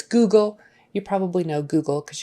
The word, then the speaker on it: Google: Google sheet Google Google Google in that case it's an ooh not an uh sometimes o o is an uh but no it's Google you probably know Google